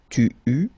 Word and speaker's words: eus: keep in mind that for each forms you will pronounce this combination of vowels e, u. You don't pronounce it like normally we would pronounce it e, okay, but we will pronounce it u all the time. Okay, so j'eus, final S not pronounced, tu eus, final